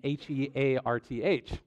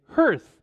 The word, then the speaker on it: hearth: Because apparently, for those of you who don't know, apparently, like me, the correct way to pronounce it is hearth.